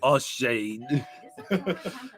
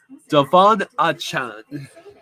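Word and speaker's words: Achane: I was calling him Devin O'Shane. Devon Achan. Devon Achan. A Chan, yeah. It's not pronounced how it looks.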